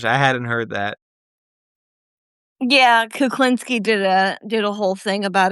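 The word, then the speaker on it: Kulinski: I think you mispronounced his last name. Kuklinski.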